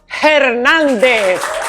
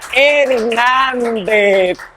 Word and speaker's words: Hernández: Estados Unidos Marcelo Hernández Marcelo hernáez Eme no se le puede decir a los americanos que la H muda están acostumbrado ya hernáez Marcelo Hernández bienvenido Marcelo Gracias Muchísimas